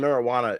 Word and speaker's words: marijuana: They're saying that the the J and marijuana is silent. And I want to know what you guys think about that because I disagree. No, it's not. I mean, it's actually an H.